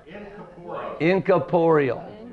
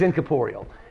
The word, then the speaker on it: incorporeal: inap incum closer incap no it's incal inap Inc Caporal you got it por p o r r